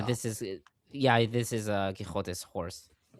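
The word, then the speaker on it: Quixote: Did you know that actually the the the the true um pronunciation of the the the novel is Don Kishote because the X is the old Catalonian.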